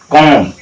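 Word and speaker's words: comb: ना कि कोम क्योंकि यहां पर यही नियम य कहता है कि अगर एम के बाद एम के बाद और टी से पहले अगर बी आ जाए तो उस जगह बी को हम साइलेंट रखेंगे तो कम कम कम माने कंघा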